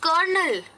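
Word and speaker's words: colonel: ले लो पर एग्जांपल उसका स्पेलिंग क्या है पता है सी ओ ल ओ एन ए ल अब अगर ये पेपर में लिखा होगा तो आप कैसे पढ़ोगे नहीं इसका प्रनंसीएशन है करनाल तो इसमें स्पेलिंग उसे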